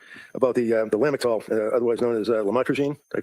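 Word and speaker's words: lamotrigine: drugs about the the lamel otherwise known as lamatrogene. Did I pronounce that right?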